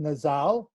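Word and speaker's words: נזל: It's Strong's 5140, pronounced Nazal.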